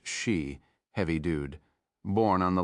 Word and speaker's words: Xi: Gabby Buouie, a National Security Council staffer now assigned to dare here, leaned over and said she quayomu is his name, spelled xi, pronounced she, heavy dude, born on